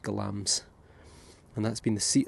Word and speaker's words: Glamis: nearby glams glams Castle spelled Glamis but pronounced glams and that's been the